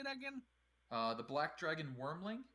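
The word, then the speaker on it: wyrmling: The black dragon wormling. Wormling. Yep, just like worm, except with a Y.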